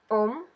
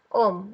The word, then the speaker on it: Ohm: mengalir kemudian kita punya Om kita punya hambatan untuk menahan atau mengutuk mengontrol arus listrik hambatan Hai ini atau resistor itu tuh kita lambangkan dengan a Hai Om dibacanya om om ndak jadi kita balik